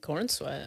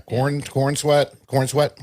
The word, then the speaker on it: Corenswet: I think Corenswet. Yeah, Corenswet? David. Yeah, Cornsweat, however you say it.